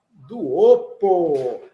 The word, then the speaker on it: duopo: Duopo. Utilizo-me do número du, 2, coloco o sufixo op e a terminação do substantivo, duopo. Lembrando que todas as palavras, a acentuação é na penúltima sílaba.